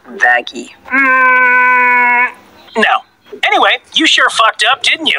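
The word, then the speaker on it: Vaggie: I named you after the best thing ever fagy actually it's pronounced vaggy no anyway you sure up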